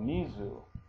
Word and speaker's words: mizu: say water well you say water by saying misu so Mizu m i zuu now I typed it in